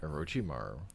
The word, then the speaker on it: Orochimaru: Orochimaru. I think one time I said it, I just said the E, and then the other time I just said O.